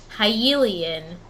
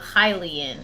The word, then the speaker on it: Hylian: but i used to always say hyelian instead of hylian oh yeah i used to always say just hillian yeah well that makes sense hyrule yeah right so it should be hylian but i used to